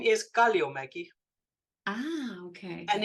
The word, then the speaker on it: Kalliomäki: grew up that way not being able to pronounce my own last name my last name is kalio Maggie ah okay and it's finished and my background